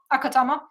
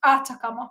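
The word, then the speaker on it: Atacama: Akatama, but it's Atakama. Yes, I said it right the first time, but it is not the main objective.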